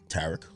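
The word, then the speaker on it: Tariq: Tarek.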